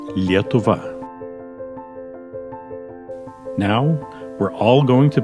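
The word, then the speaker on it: Lietuva: pronounce the word Lithuania Lithuania in Lithuanian is yet ovah now we're all going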